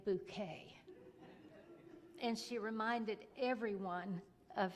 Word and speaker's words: Bucket: there was hyacinth bouquet the name was actually bucket b-u-c-k-e-t but she was so above the ordinary that she needed to pronounce her name bouquet and she reminded everyone